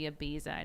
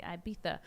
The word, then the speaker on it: Ibiza: break destinations cancun maybe ibiza i'm saying it wrong it's supposed to be ibiza but uh maybe people